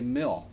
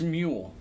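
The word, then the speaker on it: Mjölnir: he just like does a crazy job of pronouncing this meal see I always want to say mill mill New York but its mule mule mule or Neil melon or it's a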